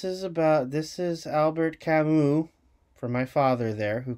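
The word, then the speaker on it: Camus: deep read this is about this is Albert kamu from my father there who corrected my pronunciation the myth of Copus is about taking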